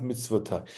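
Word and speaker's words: מצותי: And here in the second version, it's spelt mitzvato, still pronounced mitzvotai.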